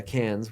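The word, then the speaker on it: Cairns: scary coming down we also went to uh cans which is a different uh part uh look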